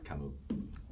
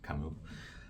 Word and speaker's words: Camus: He's French, and you don't really pronounce S, so he's Camus. I think the original pronunciation would be similar to Camille, but it's English. We call it Camus.